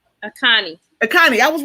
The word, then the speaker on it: Akanni: Once a month, we're going to bring on Paris to talk about, pronounce the last name. Akanni. Akanni, I was right.